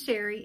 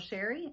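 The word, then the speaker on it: Chere: My name is Sherry and that is spelled C-H-E-R-E. It is spelled a little fancy but pronounced plain old Sherry, and I'm a full-time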